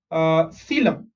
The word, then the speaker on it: coelom: is also known as coelom. Okay, how do you pronounce this word? यहाँ पे O silent है. Okay, whatever is in black, that is silent. So C is C, L-O-M is lum, coelom.